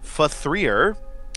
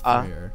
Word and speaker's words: F.3.A.R.: continuing our playthrough of faer yes fer or also known as fear three I'm pretty sure it's pronounced faer I can't tell it's